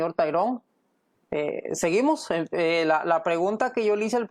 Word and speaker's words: Tyrone: Hoy tenemos la bendición de Dios de tener al señor, me cuesta pronunciar el nombre, Tyron, ¿verdad? Tyron Mayorga. Ajá, está bien, correcto.